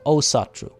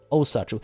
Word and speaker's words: Asatru: Icelandic words always put emphasis on the first syllable. So Asatru. Asatru.